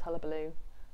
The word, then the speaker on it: Hullabaloo: Hullabaloo, that's what we're going to go with. That's the official wine list stance on how to pronounce it.